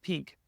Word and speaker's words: PNK: And then in addition, the last one, PNK, we think it's pronounced pink.